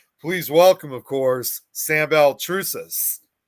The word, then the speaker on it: Baltrusis: Please welcome, of course, Sam Beltrus.